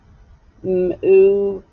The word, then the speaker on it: move: Move as a V, and the E is silent.